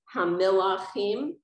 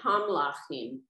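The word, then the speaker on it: הַמְּלָכִים: So usually you pronounce the I if it's under the first letter. But because there's a prefix, it's not the first letter. So some people would say hamlachim, like it's the second letter.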